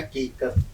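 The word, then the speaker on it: حقیقت: हकीकत, काफ। हकीकत। कुल पढ़िए, कुल कहिए, कुल, फिर कहिए हकीकत। हकीकत। सही लफ्ज देखिए। अगर उच्चारण गलत होगा तो फिर जबान का मजा ही खत्म हो जाएगा। हकीकत, यहाँ से आप आवाज निकालिए।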